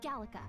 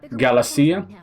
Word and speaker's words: Gallica: It's Gallica. Oh, it's Gallica. Okay, so I was right. I see I pronounced it 4 times and then claimed I was right.